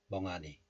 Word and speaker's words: 멍하니: And ha becomes a. 멍하 becomes 멍아. But as I said, you can still hear the h sound, h sound when you pronounce this letter. 멍하니.